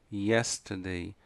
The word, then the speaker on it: yesterday: E a última palavra, yesterday. A pronúncia forte está aqui, ó, no início, a primeira sílaba.